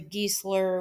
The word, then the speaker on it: Giesler: It comes from my last name, Giesler, which is pronounced obviously Giesler, which gets shortened to geese, and then always to every single year, no matter what.